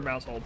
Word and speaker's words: Maushold: Or Mouseold.